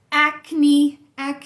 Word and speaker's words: acne: Acne, que é acne mesmo, tem E no final e a gente vai pronunciar.